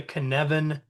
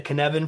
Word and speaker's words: Cynefin: And if you're trying to remember how to say it, just say it kind of rhymes with Kevin. It's the Cynefin framework.